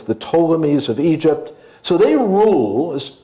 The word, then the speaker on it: Ptolemies: That is not pronounced Ptolemy. It's just the P there is silent. It's very, very important. It's the Ptolemies of Egypt.